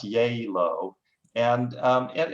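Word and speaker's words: Gjeilo: taking notes um but it's pronounced yay low and um and it's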